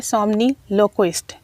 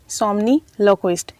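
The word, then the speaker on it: somniloquist: और थोड़े से डिफ़िकल्ट वर्ड्स हैं तो उनकी प्रोनाउंसिएशन भी सीख लीजिएगा। पहला वर्ड है सोमनीलोक्विस्ट। सोमनीलोक्विस्ट इसका मतलब होता है कोई भी वो शख्स जो नींद में बोलता हो, ठीक है।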